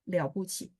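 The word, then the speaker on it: 了不起: Kalau mereka bertiga begini, bacanya pasti liao puci.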